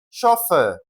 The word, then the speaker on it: chauffeur: It is pronounced as chauffeur. Okay, chauffeur.